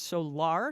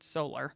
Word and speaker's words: Solar: __ ] it up her name is pronounced solar not solar Accent on the second syllable thank me later either